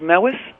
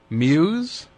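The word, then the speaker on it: Mews: me m e WS Muse is that how you say it m Newbridge M WS Muse I've been saying it meis all through my entire life well it's Muse oh my God well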